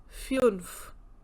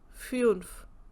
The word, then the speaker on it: fünf: U umlaut, Fünf, Fünf. Sounds like you, as in Fünf, Früh.